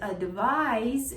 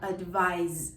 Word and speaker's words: advise: to suggest, and also it's pronounced with a voiced Z sound, advise, advise, not with a voiceless S as an advice.